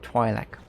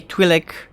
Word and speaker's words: Twi'lek: opinion is divided on the matter, but I tend to pronounce it Twi'lek.